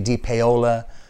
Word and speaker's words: DePaola: It's spelled with an A. DePaola is pronounced with an O.